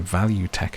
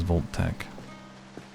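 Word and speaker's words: Vault-Tec: Oh no, Value Tech it says, but it looks like the way that it's spelled, I think you are supposed to read it as Volt Tech.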